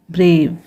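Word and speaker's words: brave: ठीक है, ए के बाद कॉन्सोनेंट है फिर ई है, इसलिए ए को उसके लॉन्ग साउंड यानी उसके नाम से पढ़ रहे हैं, ब्रेव, ई साइलेंट।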